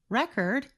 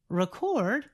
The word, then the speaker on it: record: part of the word record it is a noun when we stress the second part of the word record it is a verb What appears to be